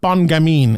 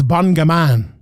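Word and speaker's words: Bon Gamin: realized that serial gan's nickname is not bun gaming it's bun gaman which Cyril bongama it Rhymes I never realized that before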